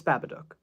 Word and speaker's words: Babadook: take that into consideration it's babadook that's how it's pronounced if you have an American accent just it needs to the first part Baba or Baba that's up to you I'm less concerned about